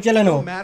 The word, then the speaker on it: Gyllenhaal: going is that how you say his name gilano is it he's talking about jake gyllenhaal good looking guy you can't last you take